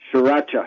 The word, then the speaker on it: Sriracha: Sriracha, yeah.